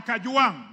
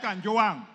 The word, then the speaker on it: Kajwang: Speaker, first of all, pronounce my name properly. I'm not Gachechwa. I am Kajwang, not Kanjwang.